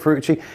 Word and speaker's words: Ferrucci: podcast from dan ferrucci i think that's how we spell it that's how we say it fruitchi editor-in-chief anyway of commercial